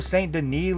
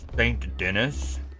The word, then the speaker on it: Saint Denis: Yo, look how cool Saint Denise looks at night in on the boat. It's pronounced St. Dennis.